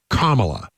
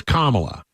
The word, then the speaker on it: Kamala: my my pronouns are so she says Kamala right so we're going to call her Kamala I have been right all along and there are some people who thinks it's Kamala but that's not what she says right we're we're in agreement I think some people just want to say it wrong in well like Donald